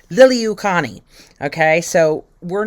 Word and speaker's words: Liliuokalani: Liliuokalani.